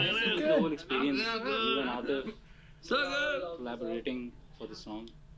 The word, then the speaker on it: Atif: And we felt like, there's nobody more powerful than Atif, nobody has a more powerful voice than Atif. So it's Atif, not Atif.